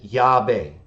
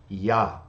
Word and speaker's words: Yah: letters so he says the Samaritans pronounce it y but the Jews pronounce it yah which is consistent with